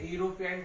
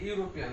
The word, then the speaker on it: European: sentence he is a European tourist তাহলে যে ইউ উচ্চারণ হচ্ছে এখানে আগের एग्जांपल ইউ এর মতো হয়ে যাচ্ছে ইউরোপিয়ান এখানে ইউরোপিয়ান ইউ উচ্চারণ হচ্ছে তাই এ হয়ে গেল এখানে ওয়া হচ্ছে না